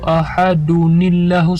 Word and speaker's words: ahadunillahus: Kebanyakan orang membaca di sini bukan Qul huwallahu ahadunillahus samad. Itu yang benar. Di sini itu pakai nun.